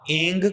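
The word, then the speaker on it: ऐं: ह्रीम ह्रीम वम स्वः इस मंत्र में जहां मैंने आयम कहा है वहां एंग का उच्चारण होगा जब मंत्र पढ़ा जाएगा क्योंकि मैं यहां मंत्र देखिए मंत्र से बोल रहा हूं इसलिए मैंने एम बोला है। उच्चारण जब आप करोगे जब जाप करोगे तो एंग कहा जाएगा।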